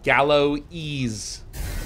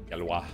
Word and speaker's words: Galois: The South End says, man, I'm learning a bit about cryptography, and the lecturer just pronounced Galois and as Galloese. I can feel my math professor. Oh my god, that's so many Galloese. Galois.